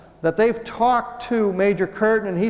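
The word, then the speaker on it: Kirton: The blacked out name is Major Curtin, K-I-R-T-O-N. In the FBI document it says C-U-R-T-A-N, but his name is pronounced Curtin, but it's K-I-R-T-O-N. Major Curtin tells the FBI that what it is a weather balloon.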